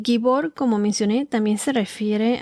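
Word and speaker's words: גיבור: en inglés es mighty en la traducción hebrea la palabra se pronuncia más o menos así como gibor G i b o ere que significa poderoso tirano también significa gigante y gibor como mencioné también se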